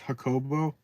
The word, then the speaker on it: Jacobo: British YouTuber it's pronounced hobo I'm sorry I but I butcher things I apologize Spanish oh that's right the J's are pronounced like hes in Spanish it's been years since